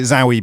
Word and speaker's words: Zowie: Some people pronounce it Zowie Bowie, which maybe sounds a bit weirder, but he's changed it to Duncan.